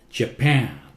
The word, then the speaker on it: Japan: Japan, P loud, Japan.